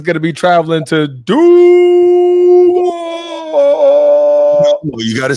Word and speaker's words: Duval: Carolina is going to be traveling to Duval. You got to say it like new head coach Liam. Oh, yeah, my bad. Duval.